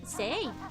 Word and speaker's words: Zee: Zay. Well, Zay is how you pronounce it in Dutch though, which is neither.